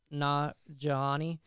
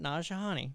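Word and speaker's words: Nanjiani: he's a famous Indian comedian / actor, Kamali Najani. He is going to play, and I butchered it, I don't care, the cosmic powered Kingo.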